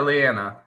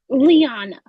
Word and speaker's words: Liana: Is it Liana or Leanna? Liana.